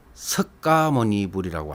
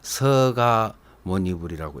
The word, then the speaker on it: 석가모니불: 두 법칙이라고 해서 어 석가모니 불이라고 안 하고요 서가 모니 불이라고 이렇게 부드럽게 이렇게 발음을 하였고 나무 아미타불도 아미타불도 나무